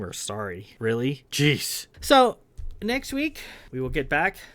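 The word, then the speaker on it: Saari: helm and Helm's been sorry which is spelled s-a-a-r-i some people think it's like sorry like you're sorry or I'm sorry it's not it's sorry s-a-a-r-i wouldn't do that to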